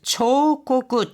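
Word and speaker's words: 彫刻: (12 ページ ) 今日の漢字 오늘의 한자는 색일조, 조각, 彫刻 초고구, 초 이렇게 발음이 납니다.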